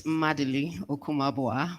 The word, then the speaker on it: Madili Okumabua: Let me pronounce my name the correct way. It's Madili Okumabua, but thank you, moderator, for trying.